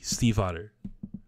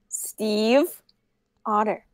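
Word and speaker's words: Stiefvater: That is how you pronounce Maggie Steve Otter. That is actually the pronunciation of that word as a German name. It's spoken fast, and people think it sounds like otter, but there's still the subtle V that you would pronounce if you're pronouncing it correctly. Yes, and it's pronounced Steve Otter.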